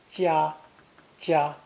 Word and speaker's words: 加: This character is pronounced 1st tone, 加, and means to increase, to add to.